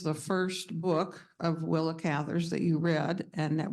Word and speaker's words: Cather: She said that her name should be pronounced like the word lather That's, with a C.